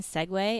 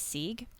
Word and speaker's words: Segway: So I was pronouncing Segway as Sieg because like that's what the word looks like.